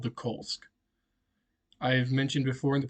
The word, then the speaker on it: Kolsk: the kolsk so first off kolsk is spelled k-o-l-s-k it's pronounced kolsk or coal the way I put